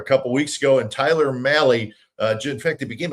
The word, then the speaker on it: Mahle: It's Mali. It's spelled M Ahle E, but it rhymes with rally.